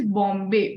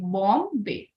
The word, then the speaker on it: Bombay: Okay, and also the Gayatri, the pronunciation of this word is Bombay. Bombay. O sound is coming rather than O. A-U sound. O.